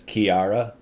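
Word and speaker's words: Chiara: new girlfriend um and to translate some of ian's name pronunciations that's kiara oh that's yeah absolutely my pregnancies are terrible if you want to spell it out it's c-h-i-a-r-a oh my dear that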